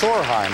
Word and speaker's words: Sorheim: And I got the name wrong. In deference to your mother, it's Sorheim, right?